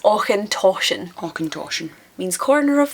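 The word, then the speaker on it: Auchentoshan: the Glasco jity the I've heard aen talken as well I've heard people consistently after me pronouncing it for them still call it aen talken but it's aen toan aen toan means corner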